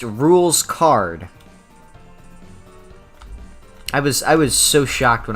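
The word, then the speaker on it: Rouxls Kaard: It's pronounced Rules Card.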